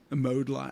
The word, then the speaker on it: Modeline: we know if the sculpting clay was also pronounced modeline and it was mode L okay it was yeah yeah a lot of